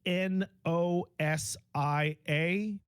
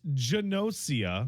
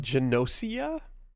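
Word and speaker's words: Gnosia: It's spelled G N O S I A, which I would pronounce as Nosia because GN makes a silent G in English. I have been informed that it's not. It's Janosia. Janosia.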